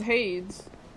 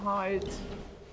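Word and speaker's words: Heide: I mean possibly I I thought it was haes ha's Tower of flame that's what Salen pronounces it as not hides off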